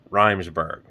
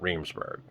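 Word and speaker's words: Riseborough: the actress's name wrong it is reimsburg not reemsburg it's in the inside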